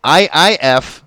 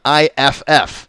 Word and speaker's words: IIF: It's IIF, not IFF. It's immediate if.